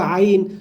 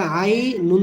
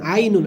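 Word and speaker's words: عين: আইন, এখানে আইন ইয়া জবর আই, হরফের নাম যেটা আই, নুন দুই পেশ নুন, আই নুন, আই এ এখানে টান দিতে হবে। অন্যভাবে টান দিলে ভুল হবে। আপনি যদি আইন এভাবে বলেন তাহলে ভুল হবে।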